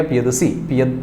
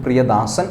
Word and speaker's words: പ്രിയദസി: ദേവനാംപ്രിയ പ്രിയദസി, പ്രിയദാസൻ അശോകൻ എന്നൊക്കെയുള്ള, അതാണ് പ്രിയദർശി. അത് സംസ്കൃതമാണ്. ഞാനിപ്പോൾ പറഞ്ഞത് പാലി ഭാഷയിലെ ഉച്ചാരണമാണ്. ദേവനാംപ്രിയ പ്രിയദസി, ഇത് സംസ്കൃതത്തിൽ പറയുമ്പോൾ ദേവനാംപ്രിയ പ്രിയദർശി എന്ന് പറയും.